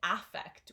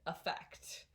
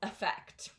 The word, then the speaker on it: affect: we don't pronounce it affect we pronounce it effect um so the stress is on the second part of this word so this vowel sound is diminished so it's not an